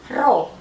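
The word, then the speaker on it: ρ: dikali G dikali Hah ingat huruf P yang agak miring ini dibacanya adalah roh lambangnya seperti ini ya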